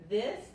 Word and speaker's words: this: Saben que hay que meter la punta de la lengua o la lengua entre los dientes frontales para pronunciar la TH en inglés. Es this, y la I aquí no se pronuncia tanto como la I española, sino más es como la I en la palabra. Yo siempre digo en la palabra, en la primera I en internet, por ejemplo, es un